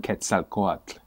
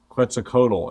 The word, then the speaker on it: Quetzalcoatl: have been expecting to come how do you pronounce it quetzalcoatl but they prophesied that this being quits a